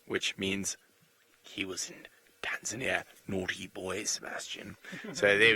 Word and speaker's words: Tanzania: There's no such place in the world as Tanzania. It does not exist. It has never existed. It shall never exist. The correct pronunciation is Tanzania.